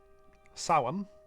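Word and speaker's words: Samhain: Sin approximately pronounced sin is a Gaelic festival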